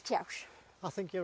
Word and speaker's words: Kewish: Now, there's a thing of how do you pronounce Kiaush? Is it Kiaush or is it Kewish? I've been told it's Kiaush.